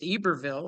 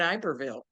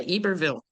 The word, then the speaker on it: Iberville: I didn't know it was pronounced Eberville. I was pronouncing it Iberville, right? Yeah. Eberville.